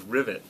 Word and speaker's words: Rivet: wrong Kenny moer uh my last name is rivet like you would you know have rivets on a g on rivets